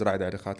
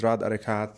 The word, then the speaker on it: Rad Arekat: so my name is Radhhat again and for those who cannot pronounce my name in in Arabic my name is Radikat um I've been in